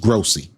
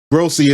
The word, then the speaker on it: Grossi: Gi Graci, I think it's pronounced Grossy, but he's an old school reporter up in Cleveland.